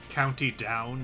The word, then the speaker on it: County Down: County down is how it's said.